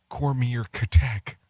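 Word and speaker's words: Comirnaty: which will now be marketed as a combinary pronounced cormier catech yeah good luck with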